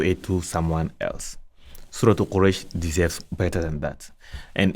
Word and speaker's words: Quraysh: We have here Surah Quraysh, not Al-Quraysh.